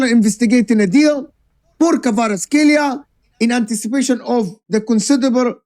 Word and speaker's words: Kvaratskhelia: Yes, you play for PSG, but you're not comfortable in Listen, if Kvaratskhelia, that's how you say it, Kvaratskhelia, signs for Arsenal, game over.